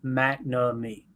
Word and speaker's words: McNamee: Ryan Wood tweeted out, Packers kicker Mark McNamee. I feel confident that that's how you say it, guys. McNamee.